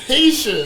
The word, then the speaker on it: Haitian: No, you're saying it like Asia.